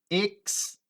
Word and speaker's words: external: Se você tiver um inglês britânico, vai mudar ali um pouquinho aquela segunda sílaba, que você não vai pronunciar o R, vai ficar external, external, tá?